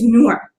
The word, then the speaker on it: Noor: it's not difficult right like my name is newer it's not difficult i always get you know newer i get like i just all across the